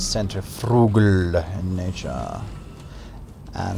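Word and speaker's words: centrifugal: shape of it it's Cent Frugal in nature and that is actually Cent Fugal it's a soft G not like the hard G in spurg for example I've spoken about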